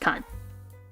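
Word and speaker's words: 館: eat radical with that it becomes building also pronounced Khan I don't know why my words are slowly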